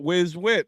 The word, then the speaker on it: whiz wit: look he even knows how to say it whiz wit that's how you get it that's with cheese